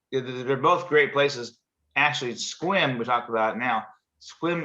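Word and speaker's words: Sequim: i was a kid i thought it was funny because it was uh it's spelled sequin it was yeah and actually i'm lying because this i'm not lying but i misspoke squim is on this side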